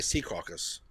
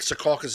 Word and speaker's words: Secaucus: secaucus really well uh do you say secaucus i say c caucus i'm saying it wrong apparently all right yeah i think secaucus is how people say it but i know you